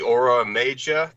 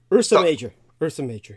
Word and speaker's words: Ursa Major: what's the the or how's it pronounced the aura major the Orissa major Ursa Major the Ursa Major thank you Douglas yeah and so